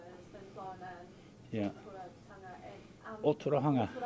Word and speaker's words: Ōtorohanga: Ōtorohanga. Ōtorohanga.